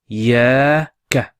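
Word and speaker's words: إِيَّاكَ: So that shadda represents two letters. So we pronounce it I-ya-ka.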